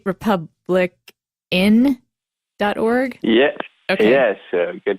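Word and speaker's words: RepublicEn: executive director of am i pronouncing it right republic in dot org yes yes good to be with you oh yeah we call it republic ian org so people can find it on google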